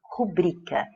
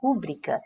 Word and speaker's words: rubrica: tônica que ocorre em rubrica? Ou seja, qual é o padrão de sílaba tônica, né? Qual é a sílaba tônica de rubrica? Então, nós ouvimos muitas pessoas falarem rúbrica.